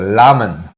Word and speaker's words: ramen: Beru and ramen, but the R is pronounced similar to an L. The lamen.